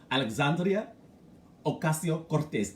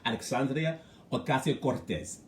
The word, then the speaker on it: Alexandria Ocasio-Cortez: Listen, when I tell you, it's like you're in Spain when you pronounce her name.